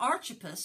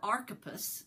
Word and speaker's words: Archippus: As for Archippus, or Archippus, depending on how you want to pronounce it, the latter pronunciation is probably correct.